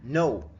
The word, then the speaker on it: know: the next word is no no. the K is silent.